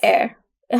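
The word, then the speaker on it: heir: उनको बोला जाता है एयर हालांकि यह जो वर्ड है वो एच से स्टार्ट होता है बट इसकी प्रोनंसिएशन में एच साइलेंट है और इसका जो प्रोनंसिएशन है वो होता है एर शिष्य मतलब जो आपके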